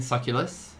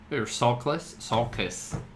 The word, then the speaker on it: Sulcus: there was a series of terrorist attacks by the Marquis de Roux on New Titan and Sulculus. Sulcus. I was at an extra syllable there.